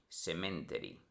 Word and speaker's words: Sematary: Está mal deletreado a propósito, debería ser Pet Cemetery, Cemetery. Pet Sematary es la pronunciación infantil, ya que en la